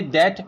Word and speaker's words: debt: Usually B becomes silent written before T or after M.